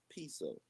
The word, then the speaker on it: Piso: Uh, the New Testament, the Church, and Christianity were all the creation of Calpurnius Piso, pronounced Piso family, who were Roman aristocrats.